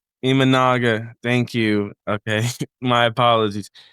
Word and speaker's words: Imanaga: my dude I'm not going to try to pronounce his last name, but Shoto Imagawa Imanaga Imanaga, thank you.